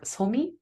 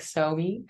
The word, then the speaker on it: Sohmi: name actually so yeah in Korean it would be pronounced more like somi um so me as opposed to like Sobe um but uh it's